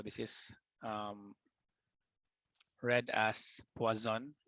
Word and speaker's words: Poisson: an easy manner or magdalene but our correct pronunciation is poison so in this topic we'll be discussing the